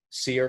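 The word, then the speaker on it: SERE: Is that pronounced SEER? SEER training? Yeah.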